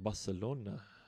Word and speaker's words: Barcelona: And you got to say it like Barcelona.